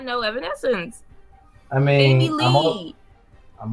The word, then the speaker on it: Evanescence: Evanescence. Evanescence.